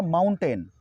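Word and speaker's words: mountain: अगला वर्ड है हमारा माउंटेन, माउंटेन को हम सही उच्चारण करेंगे माउंटन, माउंटन।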